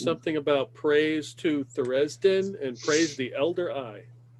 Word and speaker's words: Tharizdun: It's Tharizdun, but yeah, Tharizdun, whatever you said was close.